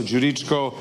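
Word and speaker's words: Đuričko: But try with Djokovic, that's the G, so Djuricko. But the best I get from Americans is Djuricko. It's like Duran, but nevertheless, it's okay.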